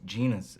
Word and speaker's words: genus: We used to play the Genius Edition of Trivial Pursuit. What? It's Genus Edition. Oh, I always thought the word was genius. I've been saying it wrong all these years.